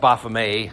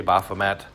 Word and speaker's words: Baphomet: You got your laptops open, so if you just looked up, it's pronounced Baphomet, but typically we say Baphomet, whatever.